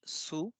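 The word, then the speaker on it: ツ: we have 2 2 there is no 2 in Japanese it's Su as in tsunami and then this is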